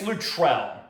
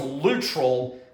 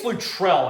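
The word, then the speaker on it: Luttrell: Terry Lutrell, I think it's Lutrell. I used to think it was Lutral. I think it's Lutrell, actually.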